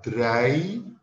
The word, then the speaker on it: drei: 3, drei. EI dibaca dengan AI, jadi drei.